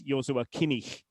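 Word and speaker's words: Joshua Kimmich: it's an approximation but if you want to say it properly then it's Yua Kinik um Yua as a first name that again was his mother's idea there are various pronunciations of the name of course in English it would be Joshua but again he's not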